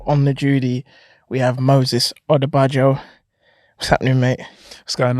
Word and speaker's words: Odubajo: Okay, on this week's episode of On the Judy, we have Moses Odubajo. What's happening, mate? What's going on? You pronounced it right.